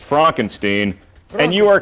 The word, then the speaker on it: Frankenstein: It's actually pronounced Frankenstein.